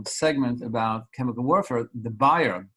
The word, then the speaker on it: Bayer: about chemical warfare the buyer B A ye R is pronounced in America Bayer the buyer Fab the